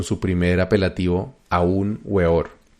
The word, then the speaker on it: Weor: primer apelativo a un weor o beor que creo que es la pronunciación correcta después del éxito del